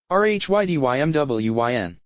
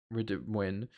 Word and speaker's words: Rhydymwyn: Oh, tempter as it is to pronounce the town of Rhydymwyn, it is pronounced more like Rhydymwyn.